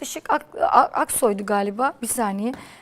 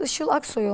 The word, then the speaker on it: Işıl Aksoy: bir hayatta ama Saadet Işık aksoydan hemen şuradan Müsaadenizle bakacağım Saadet Işıl Aksoy olması lazım ama yanlış birini telaffuz etmeyelim Evet Saadet ışı Aksoy